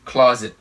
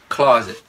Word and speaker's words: closet: cái chữ này ha không phải là closet closet là sai phải đọc là closet closet âm nhấn đầu tiên ha closet closet bể